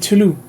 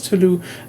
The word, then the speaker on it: Toulouse: But if it had SE, it's Toulouse. The ending is Okay. Ending S is silent. I think usually at least SE is voiced.